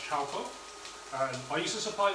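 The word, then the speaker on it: Chaokoh: Now this particular coconut milk is the Chowco, so it's pronounced Chowco.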